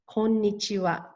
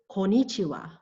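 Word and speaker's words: こんにちは: It is a 5-syllable word, konnichiwa. This word also means good afternoon. But oh no, it should not be mistaken with konnichiwa. Konnichiwa. I hear that often. Konnichiwa does not have 5 syllables. As you can see, it only has 4, and it is missing the first N.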